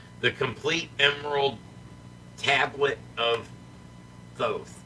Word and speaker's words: Thoth: The complete emerald tablet of Thoth, or Toth, because the H is silent.